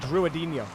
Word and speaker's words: Drinho: defense saami challenged by drinho so I want to say drino there we go I said it right that time oh that one